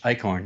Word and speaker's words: Eichorn: credits um thanks for joining us uh icorn is that how you pronounced your name that is correct yes